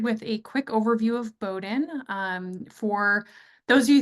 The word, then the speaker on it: Bowdoin: but it is pronounced Bowden just kind of pretend that there isn't an O there uh and that is